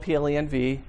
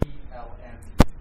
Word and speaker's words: plenv: Once you've installed plenv, So just to be yes. Just to be clear, I see that you switched your pronunciation. You call it PLN, Oh, plenv. which is it's kind of a compromise.